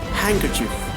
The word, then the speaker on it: handkerchief: See, the example is like Wednesday, and handsome, handkerchief, sandwich. So here some example is telling that D is silent.